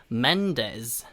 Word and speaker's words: Mendes: Mendez, Mendez라고 발음을 합니다. 우리말로는 Mendes라고 써 있는데요. Mendez 같은 z 소리가 나거든요. 그래서 Mendez, Mendez라고 발음을 하시면 되겠습니다.